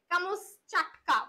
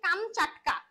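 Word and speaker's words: Камчатка: কাট্টা প্রকৃত উচ্চারণ দেখো এখানে ভুল উচ্চারণ হচ্ছে গল্পতে লেখা আছে কামস চাটকা প্রকৃত উচ্চারণ হচ্ছে কাম চাটকা জায়গাটা কোথায় রাশিয়ার অন্তর্গত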